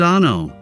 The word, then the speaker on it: ANO: Welcome to ANO Camera, pronounced ah-no.